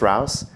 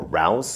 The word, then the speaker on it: R.O.U.S.: here we have the r-o-u-s or rouse or roos depending on how you want to say it made by blakemore effects